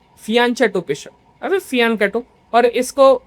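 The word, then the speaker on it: fianchetto: Develop होता है तो उसको हम लोग कहते हैं फियानको बिशप। लेकिन स्पेलिंग लिखते टाइम हम लोग लिखते हैं फियान चटो। फियानटो बिशप अरे फियानटो और इसको किंग्स इंडियन बिशप भी कहते हैं।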